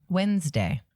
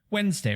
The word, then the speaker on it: Wednesday: with an a flower how do you pronounce the middlest day of the week Wednesday Wednesday right Wednesday it could be spelled w-e-n-s-day yeah that's what I thought